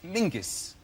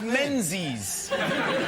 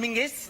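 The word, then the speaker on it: Menzies: His name is Mingus. Mingus. Yes. Goss. Yeah. Mus. Yeah, but it's pronounced it's it's spelled M E N Z I E S.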